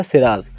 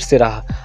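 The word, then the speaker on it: Syrah: आप कंफ्यूज मत होइएगा, इसको प्रोनाउंस कैसे करना है हमने, सिराह या फिर सिराज, जो आपको ईजी लगे या फिर जो आपको ईजिली याद हो जाए।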